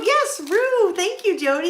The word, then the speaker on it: Roo: to be very carefully very careful when I pronounce that uh ru Baby R yes Rue thank you Jody it's Rue kka kka was